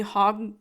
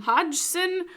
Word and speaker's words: Hodgson: the D is silent. It's probably just Hogson.